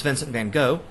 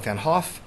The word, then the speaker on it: Vincent van Gogh: that means is that his name certainly isn't pronounced Vincent Van go dutch is an odd